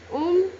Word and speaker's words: ओम: योगानंद जी ने बताया कि ओम 3 ध्वनि से मिलकर बना है, अ, उ और म।